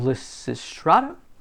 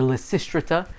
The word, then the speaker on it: Lysistrata: into the character of lissy strata or lestrita i've heard it pronounced either way is fine she's not a doormat